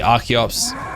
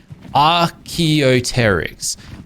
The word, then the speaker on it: Archaeopteryx: Clearly Archaeops are not. I say their name wrong. What is it? Archaeopteryx.